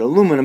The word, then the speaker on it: aluminum: it al you minium we have taken out a letter here and aluminum and so we pronounce pronounce it aluminum but if you meet